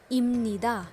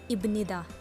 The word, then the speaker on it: 입니다: Just notice कि ये जो ब है ये प्रोनाउंस तो ब होता है, लेकिन यहाँ पर इसको हम प्रोनाउंस करेंगे म, इम्निदा, okay. So don't pronounce it एज इब्निदा, इट इज़ इम्निदा।